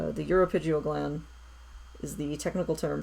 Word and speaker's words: uropygial: preen glands yesterday, and apparently I'd been pronouncing their technical name wrong. The correct term for a bird's preen gland is the uropygial gland. For some reason I'd been saying ceropygial, and I don't know why. So it was good to go back and look at it and be like, oh, uropygial.